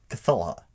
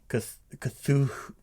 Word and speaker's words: Cthulhu: It should be Cthulha. Cthulhu. But there, why is it a who? It wouldn't be more of a hue?